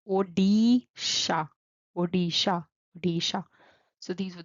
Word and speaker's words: Odisha: Then we have O, D, D, like dog. Odisha, Odisha, Odisha.